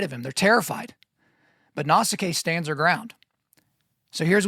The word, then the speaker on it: Nausicaa: woman named Nausicaa or Nausicaa or Nausicaa, right? So there's a lot of ways to say it. Like I told you, we're going to be looking at multiple different pronunciations here. So we'll just go with Nausicaa.